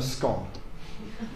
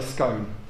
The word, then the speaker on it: scone: For me, this can be nothing other than a scone. Okay? There are other people who can only possibly say scone.